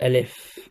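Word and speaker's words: ألف: easier for our viewers I'll write sort of how we pronounce it in English to make it easier for you to pronounce so we call a leaf here so L if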